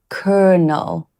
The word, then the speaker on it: colonel: It's spelled colonel, but actually it's pronounced kernel, kind of like popcorn kernel.